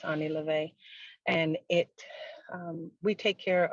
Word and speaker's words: OnE Lo'Ve: started a business called Ani levay and it looks like one love but it's pronounced Ani Levy and it we take